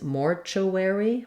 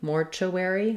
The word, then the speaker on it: mortuary: don't reduce that vowel this doesn't become Eerie like it does in some other words it's Airy for the letters Ary another way that Americans will pronounce this is Mortuary Mortuary where instead of UR